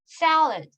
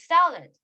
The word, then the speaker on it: salad: 여기 A 발음을 영어에서는 되게 길게 말을 하고요. salad 그리고 이제 D 발음 있잖아요. 샐러드라고 하잖아요. 한국어로는 샐러드. 근데 네, 샐러드. 근데 이게 영어에서는 네. 이런 식으로 그 발음이 나질 않아요. 그래서 salad 이런 식으로 salad 이렇게 얘기를 하는데 이제 한국식 발음은 샐러드